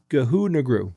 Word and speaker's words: ghungroo: It's called it's spelled g h u n g h r o o and it's pronounced ghungroo.